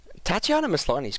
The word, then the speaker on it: Tatiana Maslany: Tatiana Maslany's great.